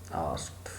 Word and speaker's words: asked: में भी बतलाया था, ASKED यह आस्क्ड नहीं होता, यह आस्क्ड कहलाता है। ED जो साउंड है वह प्रोनाउंसिएशन में ट साउंड में ट्रांसफॉर्म हो जाती है, आस्क्ड।